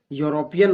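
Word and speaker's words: European: तो यहाँ खाली जगह में ए का प्रयोग होगा, यहाँ पर ए भरा जाएगा, क्योंकि आप यूरोपियन बोलिए या यूरोपियन लिखिए तो इसका पहला वर्ण य आता है जो व्यंजन वर्ण से है, इसके हिसाब से यहाँ आ का प्रयोग होगा।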